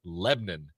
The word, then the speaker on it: Lebanon: do you got all right we're going to Lebon Indiana and yes that is how they pronounce it it is spelled spelled Lebanon but they pronounce it lebbon where we meet a 34-year-old man from Chicago